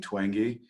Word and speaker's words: Twenge: Jean Twenge I once pronounced it to wench and I was politely corrected it is dr. Jean Twenge she's a brilliant researcher